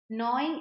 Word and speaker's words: gnawing: not stop doing something gnawing at now g is silent here when we GW at